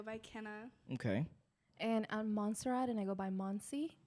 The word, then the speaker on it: Montserrat: kenna okay and at monserrat and i go by monsie muncie got you people pronounce my name so wrong many times even they call me monster rat and i said no